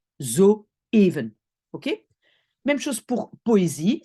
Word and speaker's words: zoeven: le E je vais prononcer zuven parce qu'il y a une voyelle en néerlandais au e c'est où c'est pas le but les petits points c'est pour dire attention ici on commence une nouvelle syllabe et on prononce zoeven ok même chose pour